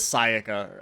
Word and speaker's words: Sayaka: was or it's it's i don't know why he's saying her name wrong it is sayaka i think it's how they say it but i got so used to saying sayaka that i can't stop myself was when i arrived